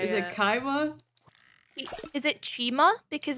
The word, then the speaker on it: Chima: Chima.